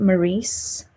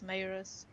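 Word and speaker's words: Maryse: maurice whatever it's no in this book there's a there's a line that actually tells you how to pronounce it like i think that's clary who says how to pronounce it and it's maerus but i don't like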